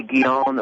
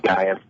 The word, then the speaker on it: Guiono: Yeah, it would be Guiono, or if you want to do it Americanized, it would be Guyan.